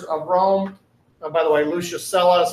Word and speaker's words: Lucius Sulla: By the way, Lucius Sulla is how you say that.